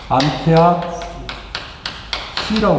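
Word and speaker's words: 암페어시: 그러니까 이걸 때 뭐라고 해? 암페어 C라고 읽어.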